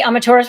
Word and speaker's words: Amaterasu: But if you say Amaterasu really fast, that's how you say it. Amaterasu. And so the U at the end of it is silent.